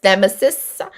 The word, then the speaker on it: nemesis: Like it's nemesis. It's nemesis. Look at me fumbling my, damn, I'm calling this guy out for not being able to say the word right. And I can't even say it right. So nemesis. That's how you say it. Nemesis. Not your enemies.